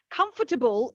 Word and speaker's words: comfortable: comfortable or comfort comfortable comfortable is actually the correct pronunciation because the o r turns into the schwa so the o is the schwa comfortable but for lazy natives like me we will often just remove the schwa altogether and just say comfortable